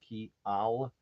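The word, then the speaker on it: kial: understand it right but k i a l that would be Y in Esperanto is pronounced key Al and k i eel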